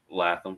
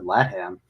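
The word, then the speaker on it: Latham: Cowboys taking JC what how do you say his last name laam JC laam okay I was wrong um yeah what I've heard we've heard it both I I wasn't thinking either I said latam oh wow sorry my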